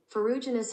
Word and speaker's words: Ferruginous: Okay, this is how you pronounce it. Ferruginous hawk.